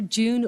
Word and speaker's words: Jieun: first speaker um Dr June oh June I asked June earlier how do you pronounce her name and she said June July it's easy so um so there